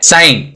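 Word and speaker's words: sign: साइलेंट हो गया, क्योंकि यहाँ पे डी और एन कॉन्सोनेंट है। नेक्स्ट एग्जांपल है साइन, जी और एन दोनों कॉन्सोनेंट है, यहाँ पे जी साइन हो गया।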